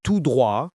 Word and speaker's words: tout droit: you will hear is tout droit. This means straight ahead. Tout droit. Two words, one meaning. The T in tout is silent here. Say it with me. Tout droit. It sounds like tout droit.